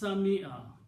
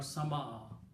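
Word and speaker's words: سمع: Because when you say Sami Allahu liman hamida, you pronounce Sami'a, not Sama'a.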